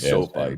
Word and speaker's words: SoFi: Yeah, I've never known the correct way to pronounce it. No, it is SoFi, but Sophie is like a girl's name.